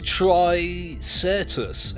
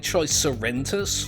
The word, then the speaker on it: tricertus: It's Philobis tricertus, and I keep saying tricerentus for some reason. There's no N there.